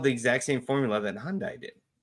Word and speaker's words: Hyundai: I'd do first Hyundai it's Hyundai Hyundai Hyundai say it right sorry I had one and someone had it once it's like it's actually Hyundai people just say Honda is Hyundai still a